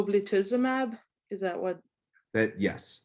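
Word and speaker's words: ublituximab: t a f y m a b o blitzimab is that what that yes that is what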